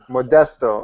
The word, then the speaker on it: Modesto: For the life of me, I can't pronounce the name of the city. Is it Modesto? Modesto.